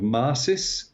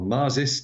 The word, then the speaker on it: MARSIS: used an instrument called Maris or marsis depending on how you pronounce it which is an acronym